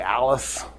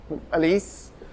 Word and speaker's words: Alise: So her name is Alise, but it's spelled A L I. So most people just say Alice. Alise.